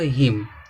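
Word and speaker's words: hymn: हैं यहां दिया है देखो हिम तो यहां देखो एम है तो एम के बाद क्या आया एन आया है अब एन क्या रहेगा साइलेंट रहेगा हिम हिम माने स्रोत होता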